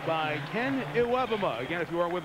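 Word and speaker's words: Iwebema: for a loss of about 3 by Ken Iwebuma. Again, if you are with us earlier, that is the correct pronunciation of his name, adjusted. It is Iwebuma, and it is a sack.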